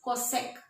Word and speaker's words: cosec: But how will you pronounce this? Cosec.